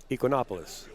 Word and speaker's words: Ekonomopoulos: Ekonomopoulos.